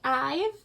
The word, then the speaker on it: IVE: watched form of therapy's reaction video and he pronounced it ive and then i was like oh my god